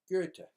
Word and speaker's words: Goethe: And what that means is that your mouth forms an O, but your tongue forms an E. And you get OE, E. And so that's how you pronounce the vowels, E. And so it's G with its E, and then a TH is a T, just like in Beethoven.